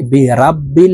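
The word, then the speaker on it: بِرَبِّ: যাবে পড়তে হবে এভাবে উল আউজু কুল আউজু বি রব্বিল বি রাব্বিল বলা যাবে না পড়তে হবে এইভাবে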